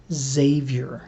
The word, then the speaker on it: Xavier: real world and it's pronounced like any other word in the English language that starts with X like xylophone xenophobe circ sees Xena Warrior Princess that is to say it's pronounced Xavier which means it's kind